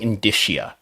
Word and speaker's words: indicia: wrestling other substantial wrestling indicia wrestling IND disia that's how you pronounced that word I learned the other day that's it sounds